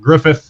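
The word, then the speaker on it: Gruffydd: uh gwyneth like the the double d sound is pronounced th in welsh so it's it's that's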